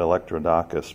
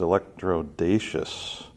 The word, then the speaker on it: Electrodacus: I mean it's pronounced electro daesh's kind of like electro bodacious I don't know I